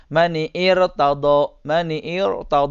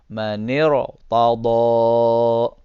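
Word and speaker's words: مَنِ ارْتَضَىٰ: karena ada kalimat sebelumnya yang hidup, jadi alif ini dianggap tidak diucapkan gini, mani'ir tado, enggak. Tapi alif ini dianggap tidak ada. Manir tado.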